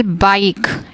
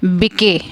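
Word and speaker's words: bike: For example बाइक, इट्स नॉट बिके, बिके नहीं है, साइलेंट ई और मैजिक ई जो लेटर है वो शांत रहेगा और उसके पहले आने वाले आई लेटर को वो अपना लॉन्ग साउंड दिलवाएगा, दैट इज़ ब आई क, बाइक, राइड, टाइम।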